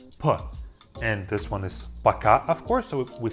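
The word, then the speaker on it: пока: do that the very first one is Baka Baka super simple in the pronunciation Baka it means by and it is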